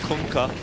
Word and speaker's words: Kunkka: I mean, Kunkka. Did you hear the way Tide yelled it? That's how you pronounce it. You're welcome. Kunkka.